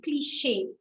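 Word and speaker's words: cliché: CH is pronounced as sh. Sh. Normally, CH we don't pronounce it sh. We pronounce either a cha sound or ka sound in English. Chair, isn't it? Or cheat. So this has an ish sound. So again, it is a French thing. Wherever you have a C and a H, you're going to pronounce it as sh. Machine, cliche, right?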